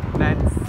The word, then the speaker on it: Mesnes: Bakın, Lens Park diye yazılıyor ama Lens diye okunuyor.